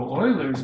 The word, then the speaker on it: Euler: and the way we got any exits so Oilers method in pronunciation Euler's really famous mathematicians it is well